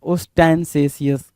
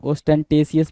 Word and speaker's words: ostentatious: बड़ा ही प्यारा वर्ड है ओस्टेंसेशियस, क्या, ओस्टेंसेशियस, ठीक है, ओस्टेंसेशियस, है ना, OSTENTATION, ओस्टेंटेशियस भी बोलते हैं इसको, और ओस्टेंसेशियस भी बोलते हैं, दोनों वर्ड इसको प्रोनाउंस करते हैं।